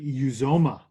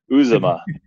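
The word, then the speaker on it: Uzomah: that guy's name cj uzoma uzoma so i've been saying it wrong in my head for many years now apparently uzuma now i'm gonna not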